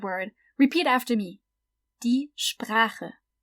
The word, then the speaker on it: Sprache: So the SP at the beginning is sp, and then we have the German R, the R, and then we have the CH, which is the guttural one because it comes after A. So ch. Die Sprache.